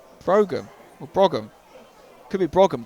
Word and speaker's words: Brougham: I thought it'd be pronounced Brougham, but apparently he tells me there's a hard G in there. So it's Brougham, or Brougham.